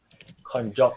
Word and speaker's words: konjac: How do you pronounce it? Konjac noodles.